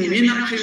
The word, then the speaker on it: Meenakshi: So what happens in Meenakshi, you find me, nak, and then she.